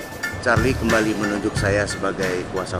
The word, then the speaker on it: Charly: Walau dalam ejaan tulisan itu ada I yang satu Y, namun dalam artikulasi dan cara membacanya tetap Muhammad Charlie Panhoten.